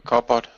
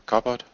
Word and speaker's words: cupboard: A cupboard. Oh, cupboard. I didn't hear the B. Cupboard. Got it. It's spelled with a P, but it's pronounced like a B.